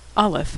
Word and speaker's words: Aleph: Aleph is silent.